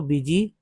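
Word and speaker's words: busy: को सोचना है कि कितने लोग ये समझ सकते हैं कि बी यू एस वाई को बिजी क्यों पढ़ते हैं? सोचिए। क्योंकि दोस्तों यू को कहीं न कहीं जो है ई के रूप में उच्चारण किया जा रहा है, ई के रूप में, तभी तो बिजी पढ़ रहे हैं, बिजी, है ना?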